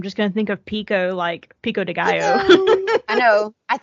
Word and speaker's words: Picoult: The way I think most everyone pronounces her name is Jodi Picoult. That's how I've always said it. Same. It's Picoult. Right. And she got on TikTok and was like, y'all, my name is Jodi Pico.